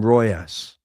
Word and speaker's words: Riojas: They call him Royas, but I'll go with however he wants it pronounced. I'll go with that. Ends like Hagen Dazs, so Royas.